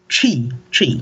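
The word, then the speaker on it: Twi: You say chi, like C-H-I, or chi? So it's T-W-I, right? And it's a very you have to purse your lips and go chi.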